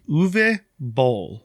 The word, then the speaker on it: Uwe Boll: this name according to a youtube video it's uve bol it's spelled u w e o if you're unfamiliar uve bowl is a german director and pretty interesting guy